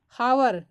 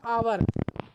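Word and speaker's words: hour: पहले आता है तो वहां एच का उच्चारण नहीं किया जाएगा किसी भी स्पेलिंग में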